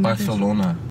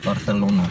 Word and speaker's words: Barcelona: Do you notice how they pronounce their C's? It's like THs. Like Barcelona. Oh, yeah. Barcelona.